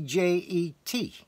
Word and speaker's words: djet: j e d or t d j e t pronounced jet this has to do